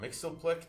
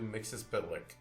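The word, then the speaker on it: Mxyzptlk: The pronunciation of the name of this villain over the years has varied from Mixelick to Mix Pitlick.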